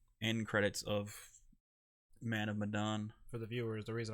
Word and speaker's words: Medan: Man of Medan.